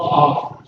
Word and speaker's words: Havre: They have to go into the Havre. We don't even pronounce the H over there. Okay, it's the Havre.